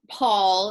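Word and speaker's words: Pwyll: So King Paul, in the Welsh, it's spelled I'll write it, P-W-Y-L-L, but it translates as Paul.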